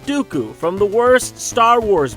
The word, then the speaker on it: Dooku: While Lee was portrayed in a number of memorable roles such as Saruman the White, and the rhymes with Poo-Poo, Count Dooku from the worst Star Wars movie.